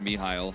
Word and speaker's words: Mihail: I always want to say his name the wrong way. It is pronounced Mihail, but it just isn't how you would pronounce this in like Hangler if it was written out, so like it throws me for a loop, but it's Mihail, so.